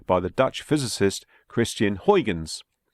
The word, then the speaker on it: Huygens: the Dutch physicist Christiaan Huygens although it's pronounced Huggins in the Netherlands the Huygens principle of